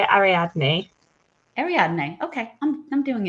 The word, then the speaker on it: Ariadne: dead language you can get away with the pronunciation okay say ariandee say it so i i think i would say ariadne ariadne okay i'm i'm doing it semi right